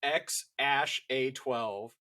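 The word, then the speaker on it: X Æ A-Xii: name to figure out how the fuck to pronounce it. It is XAsh12.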